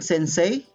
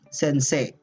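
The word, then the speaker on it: 先生: our romanized uh words this e i sequence okay you will not pronounce it as sensei it's sensei prolonged uh since it's uh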